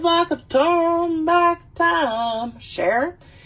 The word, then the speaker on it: Cher: of dumb back time cher not her but it's played by